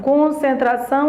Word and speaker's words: concentração: a tonicidade das demais concentração concentração a sílaba tônica é são Atenção atenção a sílaba